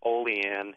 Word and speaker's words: Olean: It's called Olean. You pronounce Olean.